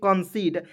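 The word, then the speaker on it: concede: important है अब देखिए सी ओ एन सी ई डी ई तो इसे पढ़ेंगे कंसीड अब बहुत सारे ऐसे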